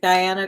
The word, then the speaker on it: Guyana: Oh, I did pronounce it Guyana correctly.